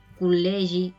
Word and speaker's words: col·legi: Y se pronunciaría como una doble L. Col·legi, ilusió.